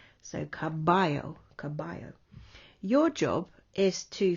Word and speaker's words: caballo: so you could say caballo but you wouldn't be pronouncing it correctly in spanish so it's c-a-b-a-l-l-o and double l in spanish is sometimes pronounced like a y so caballo caballo your job is